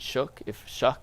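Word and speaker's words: Shough: Do you have a preference on Dart, Milroe, and Shuck?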